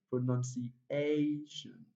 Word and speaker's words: pronunciation: Now words that ends with tion takes the primary stress on the second syllable from the last, just like ik.